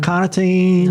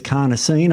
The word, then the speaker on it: carnosine: carnosine in the body not cartine not creatin it's carnosine I'm pronouncing that correctly and that buffers against